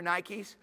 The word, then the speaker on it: Nike: Anybody wear Nikes? I really like Nikes. Because Nike is the way to pronounce in English a Greek word. And the Greek word is Nike. And Nike is spelled N-I-K-E, Nike.